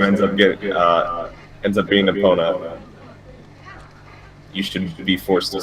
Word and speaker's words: Epona: So he says the only good name for a horse is Epona, twice. So Epona. This is pronounce Epona.